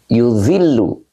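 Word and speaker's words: يُظِلُّ: Yuzillu. Nih, bacanya yuzillu.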